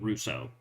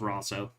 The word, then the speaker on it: Rosso: It's either Russo or because I know I had a shop teacher with the same last name, and he pronounced it Russo, but he's American, so it could have the same spelling, but if it's in a different country, it's going to have a different pronunciation or a different root. Rosso, that's right. It's Rosso. I knew there was a different like caveat.